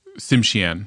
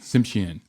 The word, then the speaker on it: Tsimshian: How do you pronounce that? Tsimshian. Tsimshian.